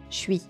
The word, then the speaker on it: je suis: Au lieu de dire je suis, c'est même prononcé comme ça, je suis.